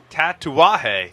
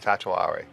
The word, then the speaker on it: Tatuaje: Tatuaje. Tatuarje. Hey, Paul, pronounce this rum for me.